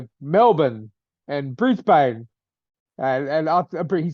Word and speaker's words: Melbourne: That's like Melbourne. It's not Melbourne, it's Melbourne.